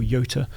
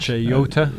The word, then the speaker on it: Jota: Lamborghini, the SVJ, for Jota or Yota, depending how you pronounce it. Yota.